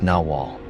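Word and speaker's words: nahual: Both are pronounced Nawal.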